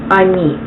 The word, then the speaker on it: Они: He is on, she is Она, and they is Они.